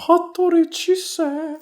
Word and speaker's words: Hattori Chise: Hattori Chise. Thank you for pronouncing that for me.